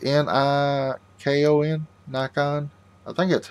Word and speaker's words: Nikon: I think it's N-I-K-O-N, Nikon. I think that's how you pronounce it.